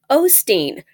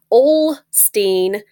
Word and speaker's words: Osteen: There is no L in his name. There is no D in his name.